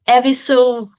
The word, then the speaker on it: Evisu: để em nhớ, let me remember cái áo Evisu. Áo episode đọc là Evisu shirt.